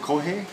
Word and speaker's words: kohai: The senpai has duties and responsibilities to look after the, what is it, kohai?